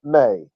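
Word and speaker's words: μή: at the Greek here the first word is May it's like the month of May it's actually spelled in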